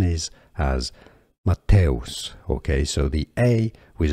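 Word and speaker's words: Matthäus: you got Matos okay th is here pretty much pronounced like a t not th Matos and us is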